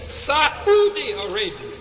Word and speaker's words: Saudi Arabia: Saudi Arabia, correct pronunciation, Saudi Arabia, coming from the Arabic root Aswad. Saudi in Arabic and in Swahili means dark or black.